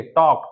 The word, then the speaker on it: talk: ये होगा साइलेंट यहां पर भी एल होगा साइलेंट हाफ हाफ का मतलब होता है आधा टी ए एल के टॉक टॉक का मतलब होता है बात करना तो